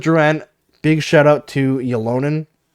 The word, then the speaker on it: Ylönen: Along with Drouin, big shout out to Ylonen, or Ylönen, I guess is the proper way to pronounce it.